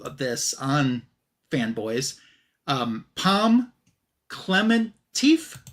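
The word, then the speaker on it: Pom Klementieff: Um Palm Clementif, I believe is how you say her name.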